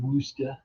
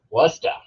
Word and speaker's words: Worcester: Walden Worcester.